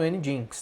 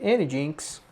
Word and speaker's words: nginx: que a gente vai utilizar, vai configurar no Nginx, tá?